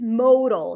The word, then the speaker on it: modal: The only difference is E versus A, but these are two different words pronounced differently.